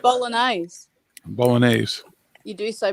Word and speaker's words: bolognese: you like bowling eyes bolognese you do so bolognaise so you don't pronounce the g the g is silent bologna there you go